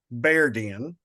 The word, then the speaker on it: Bearden: of mispronounce now so Bearden is actually beard Den because there were lots of bears in the area and there is a